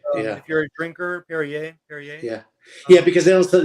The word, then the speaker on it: Perrier: i like is the perrier sparkling water the lime flavor okay yeah if you're a drinker perrier yeah yeah because they also they don't pronounce the r like they usually leave off the sound oh yeah there you